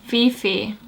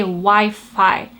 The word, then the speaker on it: Wi-Fi: what more um yeah why we say like fifi but it's not the way you pronounce it right you say wi-fi wi-fi no what wi-fi